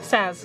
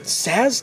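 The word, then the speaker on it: Sazh: How do you pronounce his name? Saz. Saz.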